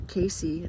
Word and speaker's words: Cayce: 30s and 40s around the work of Edgar Cayce who is known in America as the Sleeping Prophet.